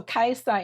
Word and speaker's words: Kajsa: But so Kajsa in Swedish rhymes with Bajsa.